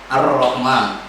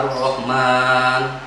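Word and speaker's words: الرحمن: Qomariah mohon maaf Hai disini terdapat alif lam syamsiah Hai karena disebut alif lam syamsiah pernah di albumnya tidak kita baca hingga masuk ke dalam huruf-huruf ar-rahman ar-rahman di sini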